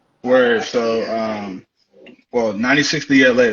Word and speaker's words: 96thela: where so um well 96bla that's how you say it it's cool because not a lot of people know how to say it um like they say 96 della so 96 that's the year i was born um and la is like my rap name it's called lost adventure so it's 96 the